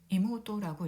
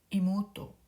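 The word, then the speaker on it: 妹: 이모토라고 읽고요. 모우는 장음이 됩니다. 이모토, 이모토, 와타시노 이모토 데스.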